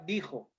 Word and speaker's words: dijo: O sea, se transcribiría como Dixo, pero se pronuncia en este caso, sabemos que es la palabra dijo.